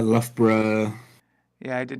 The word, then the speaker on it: Loughborough: yeah is that there's all the others that have just Borough at the end or bruh at the end as we pronounce it as bruh Bruh Bruh Edinburgh Loughborough yeah I did not